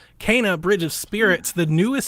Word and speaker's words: Kena: the direct tomorrow the game is called kana i've been calling it kenna for half a year you learn when she pronounces her name in the game kana bridge of spirits the